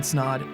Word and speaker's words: Snod: my name is snod it rhymes with odd and we'll catch you